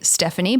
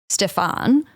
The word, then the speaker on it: Stefan: It looks like it should be Stephanie, but it's obviously Stefan. But it just the way it's spelt with the intonation in my mind, I instantly go Stephanie because I've just mixed all the letters together.